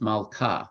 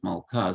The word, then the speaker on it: Malkah: In Aramaic, it's suffixed, it's Malkah. It's a long A at the end of the word. The king is Malkah.